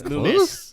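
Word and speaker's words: Loomis: lulen no lul lunis lunis lunis not Lis Lumis Lumis L what want say l o o m i Lumis Lumis okay Lum I don't think I ever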